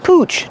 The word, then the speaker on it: pooch: And sometimes people say pooch to refer to a dog. It's just a fun word for a dog. Pooch. Pooch. Pronunciation. Use the ooh sound like moon and soon.